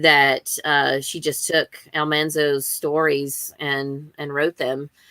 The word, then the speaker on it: Almanzo: reminded me last year that almanzo's name is pronounced almanzo not almanzo like they did it in the